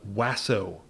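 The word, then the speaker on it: WASO: measure was also performed the wasso no that isn't me mispronouncing lasso like elmer fudd i tramped the playways it's the name of the final experiment the experiment is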